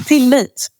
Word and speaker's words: Tillit: on a Post-It um till it which and and I don't think I've thoughted about it in that way before because it's pronounced slightly differently in Swedish um but uh to